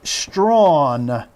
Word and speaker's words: Strachan: Wide receiver Mike Strawn, though it looks like it should be pronounced Strachan.